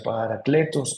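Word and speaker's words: Parakletos: Por eso también es llamado el Paráclito, que es una palabra griega que significa Paracletos, o se pronuncia Paracletos, que literalmente significa aquel que es invocado.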